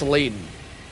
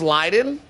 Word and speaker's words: Leiden: Also, just so you guys know, a fun fact about Leaden is that his name isn't actually pronounced Leaden. His name is actually pronounced Leiden.